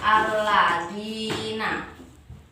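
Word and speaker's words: الذين: Oke, untuk contoh yang ketiga, di sini ada lafadz alladzina. Alladzina. Nah, ini disebut mat tobingi karena ada harokat apa ini? Kasroh yang diikuti oleh ya sukun. Jadi cara bacanya dinya harus panjang, yaitu alladzina. Gitu ya.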